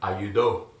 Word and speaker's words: ayudo: First singular, ayudo. Ayudo. Right. It's the end with the ends with the O, so accentuation syllable, the one before the last one, second to the end, right?